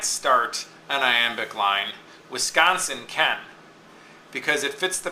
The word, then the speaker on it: Wisconsin: three- syllable word um like Wisconsin now it's Wisconsin okay unstressed stressed followed by unstressed so what I see